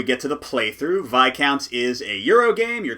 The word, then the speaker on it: Viscounts: the west kingdom series vi counts of the west kingdom or viz counts if you want to pronounce things poorly i'm going to go